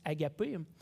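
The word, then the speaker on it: ἀγάπη: ailleurs, c'est-à-dire celui qui, dans le grec, se prononce agapé.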